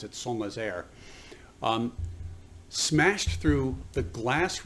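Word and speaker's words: Saint-Nazaire: of san nazaire in france we would say saint nazaire or saint nazareth but they pronounce it somas air um smashed through the glass roof of the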